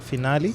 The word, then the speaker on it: Finali: Because I was like, oh, it makes sense. I'll just say, like, during the introduction, I'll say, finally she's here.